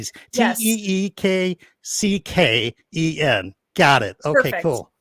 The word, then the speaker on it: Tecken: Teekcken.